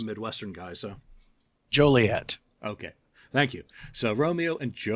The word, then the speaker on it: Joliet: Illinois, which, of course, has a city called Juliet. Yes. I don't know. Is that how you pronounce it? I'm not a Midwestern guy, so. Joliet.